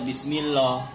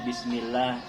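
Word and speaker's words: بِسْمِ اللّٰهِ: Nah, Bismillahi ini walaupun lafaz Allah ketika kalimat lafaz Allah diawali berbaris kasrah, tetap bacanya harus tarkik tipis. Tidak boleh dibaca Bismillah karena itu berbaris kasrah sebelum lafaz Allah, tapi bacanya harus tipis. Itu bacanya Bismillah, ya Bismillah. Tidak boleh dibaca Bismillah.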